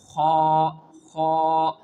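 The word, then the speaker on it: خ: of throat letters and it is pronounced from the upper part of our throat which is towards our mouth. So, how can we pronounce this letter? Kha kha khabirun basir khabi khabirun basir.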